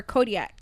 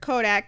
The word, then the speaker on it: Kodak Black: Is it Kodak or Kodiak? It's Kodak. It's Kodak Black.